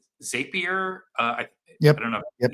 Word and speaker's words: Zapier: But it's something that I think, like, if you've ever used something like Zapier, Yep. I don't know. Yep. Yeah, that's how it's pronounced.